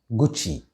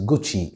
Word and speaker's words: Gucci: this brand name is gucci the double c should be pronounced with a chair sound so it is gucci it is not or gaki it is gucci i hope i can